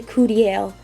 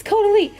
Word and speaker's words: Caudalie: I say Caudalie. Caudalie. Oh my god, that's it. Caudalie. It's Caudalie.